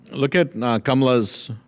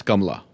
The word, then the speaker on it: Kamala: So if you're gonna say her name in Hindi, it's a Hindi name, it's Kamala. Kamala. That's how you would say it in India.